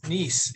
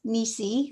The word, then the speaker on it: Niece: So Janice Niece is who I choose. She's next. Hello, my name is Janice, and it's Nisi with Nisi. Sorry. You pronounce the E on the end.